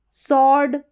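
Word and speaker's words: sword: इसको स्वर्ड करके पढ़ेंगे। स्वर्ड यानी स्वर्ड नहीं पढ़ेंगे। स्वर्ड जो यहां डब्ल्यू है यह साइलेंट रहेगा। स्वर्ड और यह है स्वीप। क्या है? स्वीप। तो यहां पर इसको स्वर्ड यह पढ़ा जाएगा। ठीक है? इस तरीके से। डब्ल्यू का साउंड नहीं आएगा। डब्ल्यू साइलेंट रहेगा।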